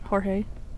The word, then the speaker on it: Jorge: Though technically it's pronounced Jorge, which I butcher with my American accent.